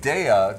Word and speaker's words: Daiya: And Daiya, just think of dairy, D-A, dairy. That's how it's pronounced, Daiya cheese.